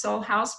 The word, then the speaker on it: SolHaus: how it is written it's pronounced soul house but I don't know